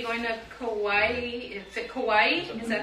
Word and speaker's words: Kauai: Is it Kauai? Is that how you say it? Yeah. Kauai.